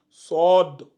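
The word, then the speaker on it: صاد: différen ça donne sord SOD c'est tu ouvres bien la bouche tu donnes SOD SOD SOD donc c'est le SOD cette lettre là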